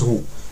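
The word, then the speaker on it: rhô: le P qu'on connaî mais ça se prononce rou donc le fameux Sigma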